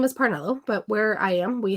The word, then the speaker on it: Parnello: So, if I go somewhere, they say, "Is it Parnello or Parneo?" Because in Spanish, two L's makes more of a Y sound.